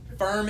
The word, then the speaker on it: firm: It's that hard R sound. Firm.